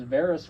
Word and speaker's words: Varys: Yeah, I thought he was like Varys, because Varys rhymes with Laris, and Varys is asexual,